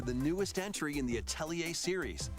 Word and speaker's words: Atelier: Oh, Atelier? Okay. This is weird. Well, there you go. Forward to the newest entry in the Atelier series. Oh, sorry, Atelier. That's how they pronounce it.